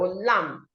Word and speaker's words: lamb: So we have lamb, lamb, not lamb. The B is silent, so you go lamb.